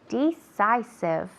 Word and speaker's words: decisive: Decisive. D, not de.